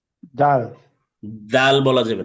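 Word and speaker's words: ذ: তাহলে জাল হচ্ছে জিব্বার আগা সামনের উপরে দুই দাঁতের আগার সাথে লাগবে, তিন আলিফ টেনে পড়তে হবে।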